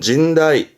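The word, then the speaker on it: 甚大: 심자네 그렇게 외우시는 겁니다 심할 심자 시험때는 심대하다 발음은 진다이 진다이 진다이 다함은 심대한 말 그대로 심이 매우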